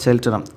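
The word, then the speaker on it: Cheltenham: ദ ഹൺഡ്രസ് from ചെൽറ്റനം അതാണ് ഉച്ചാരണം കേട്ടോ, ചെൽറ്റനം.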